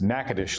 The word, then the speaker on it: Natchitoches: So I live in Nacogdoches, Texas, and so the sister city of Nacogdoches is Natchitoches, Louisiana. Spelled very differently, pronounced differently, but she teaches there, and so that's about an hour.